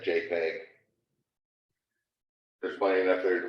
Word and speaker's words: JPEG: who invented it so dot jpg or uh dot jpeg usually said jpeg there's plenty enough there